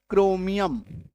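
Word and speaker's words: chromium: सी एच आर ओ एम आई यू एम क्रोमियम सी एच है ना सी एच आर ओ एन ओ एल जो है chronology क सी एच के बाद जैसे ही आर आया इसका साउंड बन गया क्लियर है जिनको नोट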